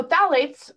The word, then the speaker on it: phthalates: why it's important um so phthalates uh pronounced with the ph uh but spelled with a th are pronounced or spelled with a ph but pronounced with the th excuse me are a family of